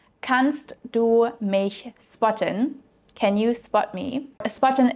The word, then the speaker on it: spotten: Another important side note with the word spotten is that you definitely want to pronounce the SP like in English and not like in German, because there is the